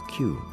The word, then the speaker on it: queue: Another name for the braid was a queue. That's a hard word to spell, but an easy one to say. It is pronounced just like the letter Q.